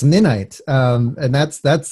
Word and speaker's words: Ninite: a business I'm going yeah nice and it's pronounced midnight and that's that's how you pronounce at night